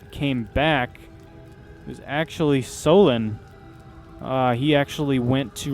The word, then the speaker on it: Solon: back it was actually solon uh he actually went to ramyar village to stir up trouble huh also his name rhymes with colin so i'm not sure